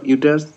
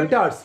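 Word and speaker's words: ureters: Sir renal excretory system sir consist of a pair of kidneys, a pair of ইউটারস, urinary bladder. ইউরেটারস, উচ্চারণটা ঠিক করে করো, ইউরেটারস, ইউরেটার, a pair of ইউরেটারস, urinary bladder and ইউরেথ্রা।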